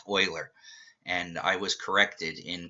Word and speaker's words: Euler: but I always say uler because look at it it looks like it should be pronounced uler but it's really pronounced Oiler and I was corrected